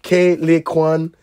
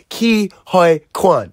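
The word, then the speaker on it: Ke Huy Quan: Like, Kei Lee Kwan said, I can never say his name right. It's Ki Hoi Kwan.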